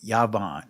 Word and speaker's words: Yavan: Yawwan in the Israeli Yavan is how it's pronounced but we know that there was no va sounds in ancient Hebrew but nevertheless in the